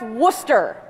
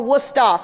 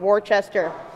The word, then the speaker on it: Worcester: dojo and my college which is spelled or pronounced Worcester or wora for the locals not Worchester uh this presentation is